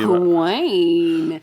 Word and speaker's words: Gawain: But so the story I'm covering is James, you're going to correct me on my pronunciation. Oh, okay. Well, I was going to be Gawain. Gawain. I call Gwen that sometimes.